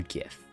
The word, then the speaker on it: GIF: on the internet enjoy is it pronounced GIF or GIF and it says it right there in the icons there's the peanut butter and then there's the GIF logo it has to be GIF this ain't no peanut